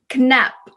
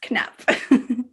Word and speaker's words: knapp: how do you say button in swedish knop knapp knap i like that it sounds like the sound a button makes knapp all right now because movement troll has a